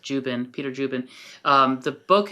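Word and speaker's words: Dziuban: Um last name is spelled D Z I U B A N but it's pronounced Juben, Peter Jubin.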